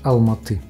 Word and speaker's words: Алматы: В Алматы правильно говорить «Алматы». Мы сняли квартиру на несколько дней, так что у нас есть где поесть и переночевать.